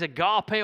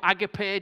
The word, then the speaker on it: agape: and this word is agape or agape depending how your greek pronunciation is on a sunday morning and it's the unconditional